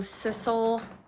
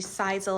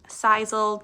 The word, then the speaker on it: Sisal: This is from Sissel, or actually Sisal, I think is how you pronounce it.